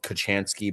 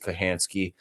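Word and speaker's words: Kochanski: Um so, uh it's spelled it looks like it's spelled Kachansky, but you pronounce it Kahansky.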